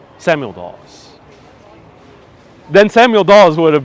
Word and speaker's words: Dawes: this poem hey kids take a pause because tonight we're going to talk about william dawes daws then samuel dawes would